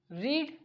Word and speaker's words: read: फिर रीड यानी पढ़ना, थर्ड फॉर्म में स्पेलिंग सेम रीड ही रहेगी, READ रहेगा, लेकिन प्रोनाउंसिएशन में रेड हो जाएगा।